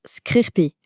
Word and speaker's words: scrcpy: Et voici la star du jour, Screencopy, qu'on prononce Screen Copy.